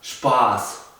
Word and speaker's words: Spaß: Por ejemplo, si yo escribo la palabra Spaß, que significa diversión, se pronuncia Spaß. Wir haben Spaß. Nosotros nos estamos divirtiendo, tenemos diversión. En cambio, si escribo Kuss, que significa beso, la U es corta, no es larga como la A de Spaß.